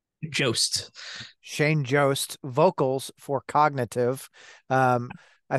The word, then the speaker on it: Jost: do you say your last name Jo Shane Joost vocals for cognitive um I think recently signed